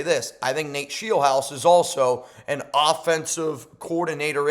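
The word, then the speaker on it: Scheelhaase: Rams pass game coordinator Nate Sheiel House. Yes, it's pronounced Sheel House.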